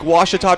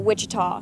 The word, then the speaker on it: Ouachita: Back in Texas, everybody pronounces it Wichita, but really, it's Ouachita. Ouachita. Ouachita. How would you pronounce it? Ouachita. Ouachita. It's Ouachita Baptist University. Get it right. It's Ouachita, people. It's Ouachita.